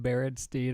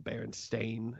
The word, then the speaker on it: Berenstain: Does it matter if we pronounce their name Berenstein or Berenstain? Well, my former partner Mandela used to call him Berenstein, but I call him Berenstain, as that is how their name is spelt.